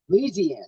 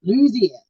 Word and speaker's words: Louisiana: Louisiana. See, I say it like Jerry Reed. Louisiana.